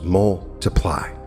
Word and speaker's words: multiply: For multiply, place equal emphasis on the first and last syllables, multiply.